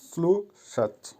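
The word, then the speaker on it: слушать: Verb স্লু সাচ, এর বাংলা হবে শোনা, উচ্চারণ হবে স্লু সাচ।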